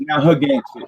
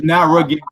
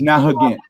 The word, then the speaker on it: Narragansett: is actually properly pronounced Narragansett. We didn't have R's in the language, and we ended up with two of them in our official name. So I use Narragansett because most people know it, but properly it's Narragansett.